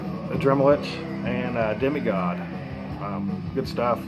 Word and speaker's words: Adramalech: twist to it and i think it's pronounced a dremel lich kind of like a dremel itch um this band sounds a lot like a dremelich and uh demigod good